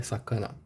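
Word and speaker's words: 魚: Sakana, ou sakana, mas não, o jeito certo de falar é sakana.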